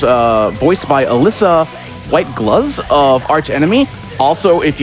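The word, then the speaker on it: Gluz: voiced by Alyssa white gloves of Arch Enemy also if you've played metal helsinger you will understand that voice as well as Alyssa white gloves I believe it is pronounced gloves so uh and then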